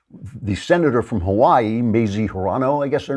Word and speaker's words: Hirono: you're a man the senator from Hawaii mazie Hirono I guess her name is pronounced she has something a little message for